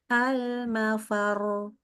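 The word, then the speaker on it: المفر: yang minggu lalu sebenarnya ini rnya kita bacanya tebal ya Jadi almafar ya gitu ya C Oke betul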